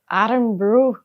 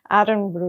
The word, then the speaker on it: Irn-Bru: But now I'm just mispronouncing Iron Brew? Iron Brew. Iron Brew. Irn-Bru Irn-Bru Irn-Bru Rate it.